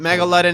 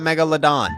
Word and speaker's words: Megalodon: I also think people get very angry when I pronounce it Megaldden and not Megalodon, but I don't care.